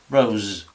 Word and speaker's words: rose: Sin embargo, esta S intervocálica ya es sonora, rose, rose.